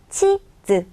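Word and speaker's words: 地図: 치즈, 치라고 읽는 게 중요해요. 자, 땅지자라고 했죠.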